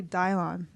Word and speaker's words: Dylan: energy good effort um it's actually dialon even though it looks like Dylan is it dialon yeah